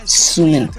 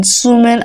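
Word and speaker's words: 수민: So I think it's Sumin because like Soyeon is not pronounced as Suyeon, and Sujin pronounced like with a double O.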